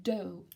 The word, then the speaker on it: dough: dough alright this time it's a very special pronunciation okay doh oh the next one was